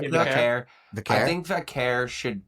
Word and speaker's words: Vaquer: I think how do you pronounce it? Vaquer, Yeah, Vaquer.